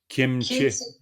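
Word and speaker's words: སྐྱེ་མཆེད: Kiemche. Alors, Kie Che. Alors, Kie Che Truk et Kie Che, ça donne Kiemche. Il y a un léger M qui se glisse entre Kie et Che.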